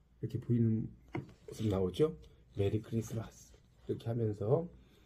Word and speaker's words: 크리스마스: 하나 빠졌죠 그리고 이제 t는 여기서 이제 묵음으로 됩니다 그래서 크리스트 마스 이렇게 읽으면 안 되고요 크리스마스 가 아니에요이 크리스라는 것은